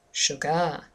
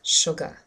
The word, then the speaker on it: sugar: beat sugar sugar sugar did you hear where the stress was yes it's on the first syllable and if you used your pen and you started hitting the bead you'll probably notice that automatically your hand hits the first syllable we don't say sugar uh-uh it's sugar let's have a look